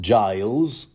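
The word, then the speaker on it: Gyles: whatnot Lord uh GES although I've also heard it pronounced Giles uh doing what he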